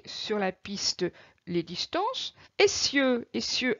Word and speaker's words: essieux: la piste les distances, essieux, attention à ces deux S pour avoir le son SE, sinon j'aurai le son ZE. S entre deux voyelles se prononce ZE, donc là il faut doubler le S.